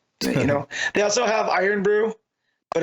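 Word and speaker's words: Irn-Bru: the one time also I love how mat pronounced that he really emphasized the word iron bro whereas iron Brew just iron Brew iron iron Brew yeah I say all of our letters yeah but it's not there Ali now have a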